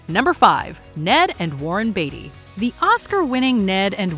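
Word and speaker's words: Beatty: confirming or denying them it's actually batty with one t repeated to help the public with proper pronunciation they may also be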